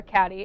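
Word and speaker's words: Cady: played by Lindsey Lohan or catty as I like to call her and everyone else calls her because her name is spelled really bizarrely she and her family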